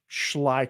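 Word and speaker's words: Schley: is that it's yeah it's Sly County so you know make make sure you get the pronunciation right shly County okay all right see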